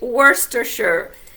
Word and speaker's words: Worcestershire: Fait que pour prononcer celui-là, c'est Worcestershire.